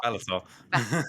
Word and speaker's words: Balthazar: I think you said it wrong though. It's Balthazar. Balthazar.